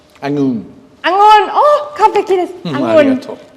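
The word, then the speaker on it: องุ่น: So these are Thai tongue twisters that foreigners find hard to pronounce. The first one means grape or budo in Japanese. It's angun. Angun.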